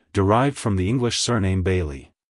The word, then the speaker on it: Bailee: the second syllable Le make sure to stress the I sound in the first syllable like hello Bailey goodbye Bailey if you found the